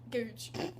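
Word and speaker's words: Goodge: Gooch. Googe.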